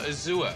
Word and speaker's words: azure: Or azure, Yes. rather. Is that it? Unless you're French, yes. How do the French say? Azure. Azure. Yes. You've got to say it like that with a little yes.